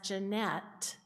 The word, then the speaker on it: Janet: And although she pronounced her name as Jeanette, it was spelled the same way as mine, Janet.